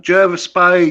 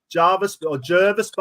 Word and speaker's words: Jervis Bay: Jervis Bay, I should say. Now, here we go. I've always known it as Jervis Bay, but apparently the locals call it Jervis Bay.